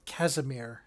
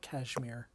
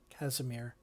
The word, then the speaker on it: Casimir: he is uh uh Casimir not Cashmere Casimir well if you say